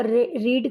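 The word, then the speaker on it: read: रीड का रीड ही रहता है। इसकी स्पेलिंग चेंज नहीं होती है। रीड की रीड रीड रीड ही होता है। बट हम उसको रेड बोलते हैं।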